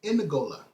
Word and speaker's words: Ngola: It wasn't called Angola. The people over there called them is Ngola. Ngola people. Ngola people. And white people just mispronounce the name Ngola to Ngully, to gully people, to gully.